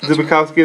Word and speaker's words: Zbikowski: Zbikowski, that sounds right to me.